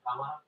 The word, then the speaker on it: cámara: We have a little accent in the first A. That makes it more Fascinating. I mean, in Spain, we really say it like camara.